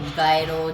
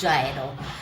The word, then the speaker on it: gyro: जायरो इज़ a basic pronunciation, कुछ लोग confuse हैं, इज़ इट गायरो Jaish, it's जायरो।